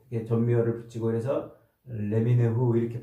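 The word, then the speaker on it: לְמִינֵהוּ: 이 표현은 히브리어로 이제 레미네후라고 이렇게 발음을 하는데 이것은 민이라는 단어에서 나온 말이에요. 민. 이 민이라는 말에서 앞에 이제 접두어를 붙이고 끝에 또 전미어를 붙이고 그래서 레미네후 이렇게 발음을 하는데 민이라는 말이 뭐냐면 뿌리라는 말이에요.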